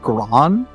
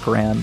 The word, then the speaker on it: Gran: Unfortunately, as of Season 2, now Gran is strictly pronounced Gran by the announcer.